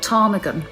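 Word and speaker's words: ptarmigan: expect from someone who called her child tarmigan with a silent pee i mean what about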